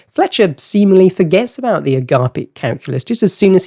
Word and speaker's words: Agapeic: Okay, I'm pronouncing this Agapeic. You could also say agape and therefore Agapeic, but Fletcher pronounces it as agape, but Agapeic sounds made up, so I've gone with Agapeic.